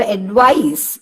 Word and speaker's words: advice: പക്ഷേ ഇപ്പൊ അഡ്വൈസ്, അഡ്വൈസ് എന്ന് പറയുമ്പോൾ അഡ് എന്നതിന് അത്ര ഉച്ചാരണമില്ല, വൈസിനാണ് ഉച്ചാരണം. അഡ്വൈസ്.